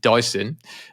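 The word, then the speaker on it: Dysin: And a fifth-round pick, and then a player called, I presume it's pronounced Dyson. I think so, yeah. D-Y-S-I-N. Dyson Mayo, Excuse me, who,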